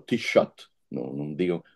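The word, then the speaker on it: Taoiseach: lá se chama o t shot não não me digam não sei como é que aqu se escreve mas escreve-se completamente diferente do modo Como se pronuncia o t shot pediu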